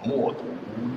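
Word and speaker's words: 冒顿: 哦，你很风趣，不过冒顿在匈奴的本音里应该读作默读。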